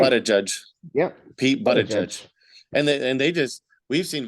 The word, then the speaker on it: Buttigieg: Pete Buttigieg. And they just, we've seen videos of this countless times where they're not even subtle. Like, oh, Pete Buttigieg, Buddy Min Judge, and all.